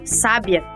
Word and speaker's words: sábia: repetem no nosso exemplo o adjetivo sábia é uma proparoxítona pois a sílaba mais forte é a anti penúltima e tem um acento gráfico porque todas as proparoxítonas são marcadas já o verbo sabia